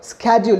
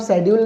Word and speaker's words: schedule: Right स्केड्यूल, इसका pronunciation आप शेड्यूल नहीं करेंगे, इसका प्रोनाउंसिएशन क्या होने वाला है? स्केड्यूल.